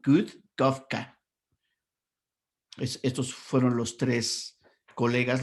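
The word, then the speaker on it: Kurt Koffka: Y este que escribe Kurt se pronuncia en realidad como Kurt, como si fuera una D suave, ¿no? Kurt Kafka.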